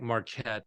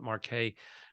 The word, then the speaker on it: Marque: L it's l David it looks like Marquette but he pronounces it Marquee and he wrote this